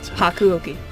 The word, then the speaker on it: Hakuouki: You're gonna have to help me pronounce that. It's Hakuouki.